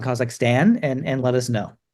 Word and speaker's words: Kazakhstan: give it a go stick an r in it stand like stand like on the shirt or with an Ahn so the flag of